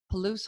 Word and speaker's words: Palouse: now calls the wheat fields of the Washington Palouse home Palouse ty said it right yeah with her husband